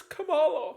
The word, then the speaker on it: Kamala: to jump on me it's Kamala say her name right oh Kam Kamala Kamala